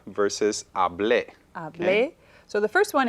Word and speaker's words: hablé: Ahora, hable versus hablé.